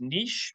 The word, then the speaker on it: niche: Yeah, so now we are up to step 2, which is niche or niche, depending on your pronunciation preferences. I only speak one word of French, and it is niche.